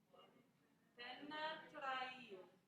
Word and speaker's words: penetrai: Penetrail. Penetrail. So you remember I told you in Italian we pronounce all the vowels even if there's multiple in a row?